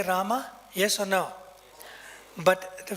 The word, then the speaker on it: Rama: my lip movement see ra ma i can hear them because the ma is soft and it's a short a so don't find fault